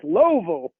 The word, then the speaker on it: Louisville: of course you know we pronounce it louisville automatically like it's louisville what's wrong with you exactly only two syllables yeah yeah that's it